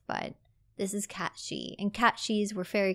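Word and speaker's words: cat sìth: cat sheep she so this is pronounced she not Sith I know cat Sith is in Final Fantasy we all call it cat Sith but this is cat shei and Cat shees were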